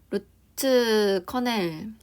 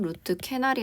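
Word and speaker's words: root canal: 그리고 루트커넬 루트커넬 루트 커넬은 루트커넬 필링은 뭐냐면 참고로 말씀드리자면 루트 캐날이 아니고 루트 커넬입니다. 요렇게 발음을 하는 거고 보통 한국 사람들은 캐날이라고 발음을 하는데 실제 발음은 커넬입니다.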